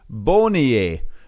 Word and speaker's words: Beaugnier: Because I struggled for a little while until I did my research and I heard that it's pronounced Beaugnier. Beaugnier Rico.